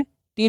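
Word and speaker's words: two: चलिए नेक्स्ट क्या है टी डब्ल्यू ओ है तो टी का ट डब्ल्यू का उच्चारण नहीं करना है ओ का दीर्घ हो गया टू टू मतलब क्या होता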